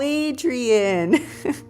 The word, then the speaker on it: Adria: Adria says, I always say it like Rocky when he says, yo, Adrian. Adria.